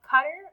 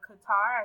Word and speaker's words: Qatar: This country here is Qatar, or Qatar, as some people pronounce it.